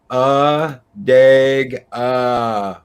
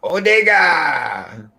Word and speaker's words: Adega: Mexican Iron Man, pronounced Adega. Adega. For correct pronunciation, refer back to Eris or Captain Trek. Adega. That's with the Mexican accent there. Adega. Adega. Odega.